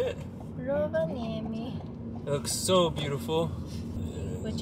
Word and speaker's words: Rovaniemi: We made it to Rovaniemi.